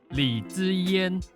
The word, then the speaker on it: Li Zaiyan: Her Chinese name is read as Li Zaiyan. This is authentic pronunciation, by the way, cuz that's my native language.